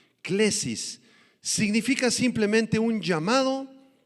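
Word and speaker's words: κλῆσις: la palabra vocación clesis del griego clesis con k y acento en la e clesis significa simplemente un llamado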